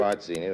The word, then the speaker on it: Barzini: Particularly this Barzini. Is that how you pronounce it? Barzini. That's right.